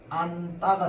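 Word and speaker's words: 안다: 안따가 있어. 얘는 발음이 어떻게 돼? 안따가 됩니다.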